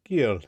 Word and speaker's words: Guyal: Guyal or Guyal? How do you want to pronounce that? I think that when you the second one, it sounded pretty good. Guyal? Yeah, Guyal, that's good.